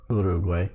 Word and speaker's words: Uruguay: I know Uruguay is the maybe more correct pronunciation, but I will use the American Uruguay just because that's what we understand, and I'm not trying to be elitist or whatever and say it different.